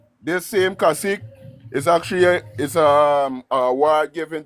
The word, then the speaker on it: cacique: It's actually, we pronounce it as Kasik. It's Kasik.